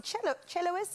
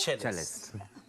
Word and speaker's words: cellist: We've got a beautiful, it's a celloist, is that how you say it? Cellist. Cellist, okay.